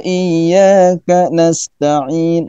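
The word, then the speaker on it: نستعين: Jadi tidak boleh dibaca kana kalau mazhab Alawi ya. Kanas tidak boleh. Harus ada jeda dikit gitu kali ya.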